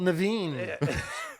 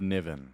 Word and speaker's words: Niven: Niven that is me Niven you said it right all right you wouldn't believe how many people they don't know me though coming to the stakes like Ravine I was just gonna say the the man they called Naveen no she's like Wonder